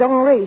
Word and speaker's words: Henri: This is Henry. He pronounces it Henri.